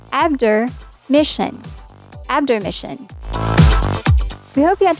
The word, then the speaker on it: Obdormition: Instead of Obdormition, pronounce this as Abdormission.